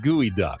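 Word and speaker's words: geoduck: It's spelled geod duck, but it's pronounced gooey duck.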